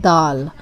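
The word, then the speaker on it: دال: Dal, very dental sound. The, very soft. You place the tongue between the front teeth.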